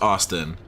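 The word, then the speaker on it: Osten: This name being pronounced Austin, it just screams white person trying to be different with the spelling. It's O-S-T-E-N. Pronounced Austin.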